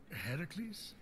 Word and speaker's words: Heracles: thing with your voice heracles yeah that that is how it's supposed to be pronounced we can move stuff